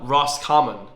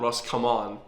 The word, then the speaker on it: Roscommon: the Republic of Ireland only Roscommon didn't vote in favor uh Ross Carmen not Ross come on yeah his pronunciation is shocking Ross Carmen guys Shame Shame number 68.